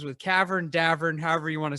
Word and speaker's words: Davern: we get it it's Davern it rhymes with Tavern rhymes with Tavern uh my mom doesn't